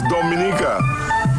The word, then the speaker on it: Dominica: we call in Dominica it is spelled do em I and I see a it is not Dominica Republic this pronounce Dominica and the situated between